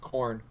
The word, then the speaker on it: Karn: Like, Don't forget I all don't those understand why Karns. people are. All Well, those his Karns. name is pronounced Corn.